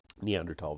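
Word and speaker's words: Neanderthal: Germany by the way neandertal Valley I know there's a th the H is silent in spite of the passage of more than two million years between Advanced Australopithecus and neandertal the tools of these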